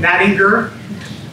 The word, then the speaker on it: Nattinger: last name, Nattinger, hard G, not soft G.